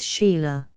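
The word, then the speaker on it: Chayla: Now the head and forefront of the persecution, after Lamoignon de Baville, François de Langlade du Chéla, pronounced Sheila, archpriest of the Savans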